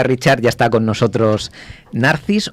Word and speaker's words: Narcis: ya está con nosotros narcis o narcis Cómo se dice correctamente como como en verdad sería narches en así que pues Ya